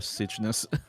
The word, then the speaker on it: Cygnus: How do you pronounce that? Cygnus. Cygnus. Yeah. Ready. I prefer Cygnus.